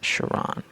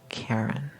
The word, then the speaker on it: Charon: orbits Pluto and Charon it's pronounced Charon not Karen the dwarf planet Pluto